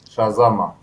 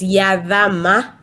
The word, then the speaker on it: Yazama: And also we have Shazama. Hi guys, hi Rostan. It's like that we pronounce it. It's Yazama. Yazama.